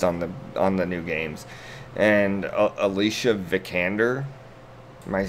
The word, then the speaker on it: Alicia Vikander: And Alicia Vikander, am I pronouncing that right? Yep. I'm gonna pretend that I'm pronouncing it right. Okay. Alicia Vikander.